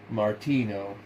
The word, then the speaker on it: Martinus: Martinus is good enough." Padway properly pronounced it Martino.